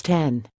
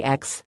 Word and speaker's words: X: ATT store acknowledged that the official pronunciation was 10 but he hadn't made a habit of correcting wayward customers it's called the 10 but customers say X he explained and we just roll with it visit markets insider